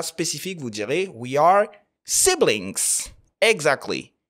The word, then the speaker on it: sibling: Dans ce cas spécifique, vous direz we are siblings. Exactly. He's my sibling. On ne dira pas sibling. Attention à la prononciation.